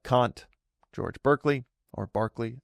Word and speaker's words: Berkeley: You have western philosoph philos philosophical echoes like Kant George Berkeley or Barkley I think how it's actually pronounced even though it's spelled Berkeley and I believe is